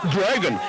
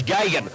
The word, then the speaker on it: Gagan: And Grogan, is it? No, it's Gagan. We'll pronounce him Gagan.